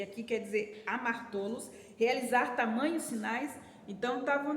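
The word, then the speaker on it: ἁμαρτωλός: Então, aqui, quando fala ele é pecador, tem uma palavra chamada amartolos. Amartolos é uma pronúncia grega para a palavra pecador.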